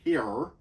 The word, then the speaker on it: hir: They basically referred to Rebus in the books by Hir. I think that's how you would pronounce it, but it would be H-I-R.